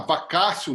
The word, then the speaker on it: vacatio: seu nome da palavra não é assim a vacatio legis tá é um período de tempo entre